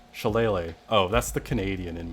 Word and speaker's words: shillelagh: You are pronouncing chalet incorrectly. You are leaving off the last syllable. Shillelagh.